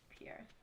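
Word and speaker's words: Pierre: we're gonna go to Pierce. Or Prairies, if you want to say it wrong like I do.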